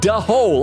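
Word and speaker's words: dhole: AMC says, da-hole. Oh, is that how that thing is pronounced? And Nora said, da-hole, it's like a fox.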